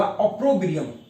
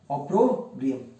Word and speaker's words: opprobrium: सही ऑप्शन होगा ऑप्रोब्रियम। अगर आपको स्पेलिंग नहीं समझ में आ रहा हो तो OPPROBRIUM, ऑप्रोब्रियम।